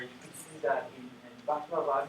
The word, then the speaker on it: baklava: with recognizing correctly that a word with finally stressed syllable like baklava, if you say baklava, it should be correct, but if you say baklava or baklava, that should be wrong.